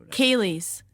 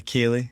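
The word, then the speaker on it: ceilidh: about, what is a Kaylee? So and how do you spell it? Because it's not the way it sounds.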